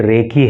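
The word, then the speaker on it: recce: यह रेसी नहीं है। यह रेकी है।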